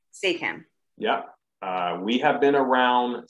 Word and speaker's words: SAAACAM: So we are pronounced SAAACAM. SAAACAM.